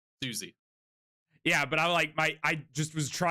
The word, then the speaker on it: Siouxsie: and it's I like if you think about this, it makes sense because it's spelled like the tribe, Yeah. like Sioux Indian. So Yeah. it's Susie.